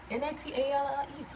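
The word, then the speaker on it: Knatyleigh: I promise you, the way you're gonna spell it in your mind, like right now, you probably like N-A-T-A-L-I-E.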